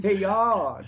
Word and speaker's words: Teilhard: Alors si vous prononcez la québécoise, peut-être Teilhard de Chardin. Teilhard de Chardin, Teilhard de Chardin, oui. Teilhard, teapot.